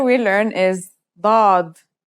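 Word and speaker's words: ضاد: we learn is do this one is like a strong version of the D kind of like the D in the word do order it looks just like the S except that it has a DOT on top the difference between this letter and D is the same as the difference between s and sin with your throat constricted here's how to write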